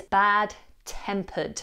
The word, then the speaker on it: bad-tempered: For this one, I want to focus on the ending, tempered. We have the ud sound, tempered, bad, tempered.